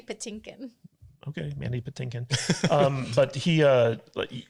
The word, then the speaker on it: Patinkin: you'd think that Mandy potemkin would be like kind of like over it over it exactly the way that you say his name is driving me crazy how do you say it Mandy Patinkin okay Mandy Patinkin um